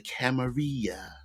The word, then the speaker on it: Camarilla: if you were stateside, it was a Camarilla and a Sabbath. And if you were uh foreign from the old world, it was the Camaria with the double L's being pronounced like a Y.